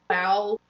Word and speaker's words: Roald: Roald Dahl is actually pronounced Val Dahl.